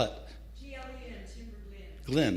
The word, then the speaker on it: Timberglen: Spell it. G-L-E-N, Timberglen.